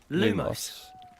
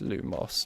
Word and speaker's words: lumos: where does this go lumos it's lumos not lumos the problem when you have